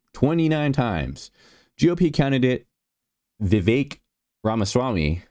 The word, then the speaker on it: Vivek: GOP candidate Vivek Ramaswamy, it rhymes with cake.